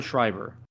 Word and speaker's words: Schreiber: Pablo Schreiber.